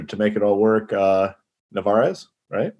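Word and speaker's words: Narváez: Narvaez, right? Is that how you pronounce it? Yep, right? Yep, you're right. Narvaez. Very good.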